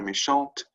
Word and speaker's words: méchant: If it's just a T there, it's that silent T again. Méchant, with the E at the end, it's méchante. Right? You sort of pronounce that T.